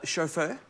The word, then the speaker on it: Chauffeur: The first one is Chauffeur. Spelled like chauffe with her at the end, which I think is quite a cute name.